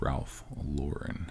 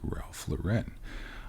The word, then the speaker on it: Ralph Lauren: calling it Ralph Lauren it's Ralph Lauren not Ralph Lauren I called it Ralph